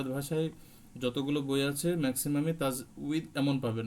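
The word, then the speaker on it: تجويد: তাজবিদ এটা বাংলা ভাষায় যতগুলো বই আছে ম্যাক্সিমাম তাজবিদ এমন পাবেন না হ্যাঁ এখানে বয় দীর্ঘ পাবেন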